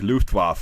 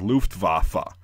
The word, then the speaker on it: Luftwaffe: actually just say like Luftwaffe or Luftwaffe. As long as you make the effort to pronounce the W as a V and not a W like we say it, Germans will be, it'll